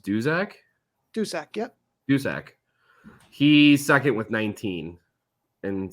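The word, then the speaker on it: Duszak: uh toronto's joseph who was it is it pronounced dusak dusak yep dusak he's second with 19 in 17 games there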